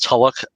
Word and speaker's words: Tulloch: We have Tyler Hoechlin in the lead as Clark and Superman, and Elizabeth Tulloch, which I believe that's the correct pronunciation, as Lois.